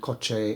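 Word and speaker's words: kotse: pronounced the same is koche which is car in Spanish and koche is um pronounced spelled k-o-t-s-e in Tagalog so it's different spelling the same pronunciation and this is because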